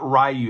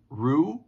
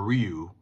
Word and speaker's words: Ryu: out she she creates a team called not rayu like from Street Fighter it's Ryu but it's pronounced Ru or Ryu um and they get slaughtered by the snake